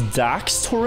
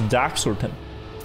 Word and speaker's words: Daxter: my three picks oh it's daxter him i thought it was dax or tim dax torrent i've been saying his name wrong didn't even know he